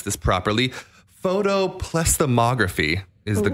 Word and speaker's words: photoplethysmography: Well, this uses a science called, I'm going to try to pronounce this properly, photoplethysmography is the correct way to pronounce it.